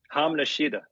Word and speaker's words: hamnashida: Hamnashida. That's what I thought. So it's h a ma. Second word is sh hi da. So hamnashida.